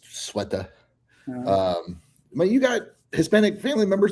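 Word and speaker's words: Ceuta: We're going to go over Spain, Sueta, Spain, as I was corrected on how to pronounce it. Oh, really? I always called it Cueta. I did too. But it's Sueta.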